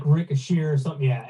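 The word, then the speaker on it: Risacher: I know the eer is an a sound, right?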